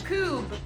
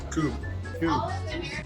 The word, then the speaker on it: Kubb: How do you pronounce this? Kubb. Kubb. Is that a U or an L? That is a U. Kubb? Kubb. Yeah. Kubb. Kubb? There we go. Another wrong answer. Cubby.